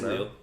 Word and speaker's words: Lille: Is that how you pronounce it? Or Lille? It's Lille.